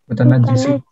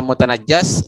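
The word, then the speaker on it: مُتَنَجِّسٌ: Fa in kanal mutanajjisu. Mutanajjisu, jangan dirubah mutanajjisu. Karena kalau tiba-tiba mutanajjas nanti yang dinajiskan.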